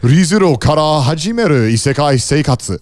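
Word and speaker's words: Re:Zero kara Hajimeru Isekai Seikatsu: ReZero kara hajimeru isekai seikatsu. Very good. No, pronunciation was on point too.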